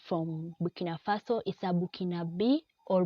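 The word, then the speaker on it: Burkinabè: A person coming from Burkina Faso is a Burkinabe or Burkinanese.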